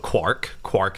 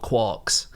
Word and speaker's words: quark: called quarks, and then he saw the word quark in Finnegan's Wake, where it clearly rhymes with Mark, but even though he spelt it in the same way that Joyce did, he always pronounced it quark.